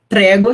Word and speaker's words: prego: Prego se escreve igual a gente fala a palavra, se escreve igual prego em português, tá? Só que a gente fala mais aberto.